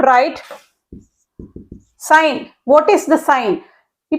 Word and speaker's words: sine: written over here sign this is pronounced as sign s n is a